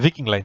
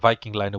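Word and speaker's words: Viking Line: আমি ভিকিং লাইন choose করেছিলাম, sheep ভিকিং লাইন, বা এখানে আপনারা ভাইকিং লাইনও বলতে পারেন।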